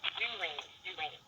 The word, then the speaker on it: Jewrine: I'm very proud of it, but it's pronounced Jewrine.